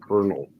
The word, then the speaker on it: colonel: Well, some people pronounce it colonel. And that's the British. English, really. And it's more accurate to the way it should be pronounced. Yeah, the way I've heard guys say it, it sounds like Kernal, kernel, like a kernel of corn.